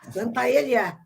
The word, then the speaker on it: Santaella: Você está pronunciando meu nome corretamente, Santaelli, porque não é meu pai espanhol de Málaga.